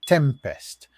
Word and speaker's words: T3MP3ST: It is T3MP3ST, pronounced Tempest, an open-source security framework.